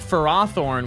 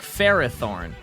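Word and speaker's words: Ferrothorn: Ferothorn is based on Ferris and Thor, but the anime pronounces it like Ferohor, which doesn't sound right, and it should be pronounced like Ferrathornne.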